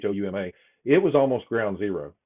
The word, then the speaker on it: Houma: For instance, Homa, I think that's how they pronounce it there, Homa, Houma.